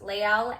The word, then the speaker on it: Lael: It's Lael, L-A-E-L. Lael, I'm gonna say, but they're just, again,